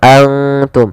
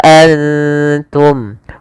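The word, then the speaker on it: أنتم: Cara membacanya yaitu kita samarkan ke ta dan ta hurufnya tipis, jangan antum, tapi dia wa antum.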